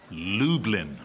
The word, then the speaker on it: Lublin: yep Lublin to Dublin close I'm afraid it's pronounced Lublin oh for goodness sake